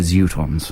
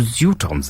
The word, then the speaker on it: Zutons: Notice I pronounce it the Zutons. The Zutons. They correct pronunciation. They sit on futons.